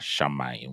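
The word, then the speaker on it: שָׁמַיִם: This is why we're pronouncing it as shamayim which means the heaven. Okay, shamayim is the word for heaven.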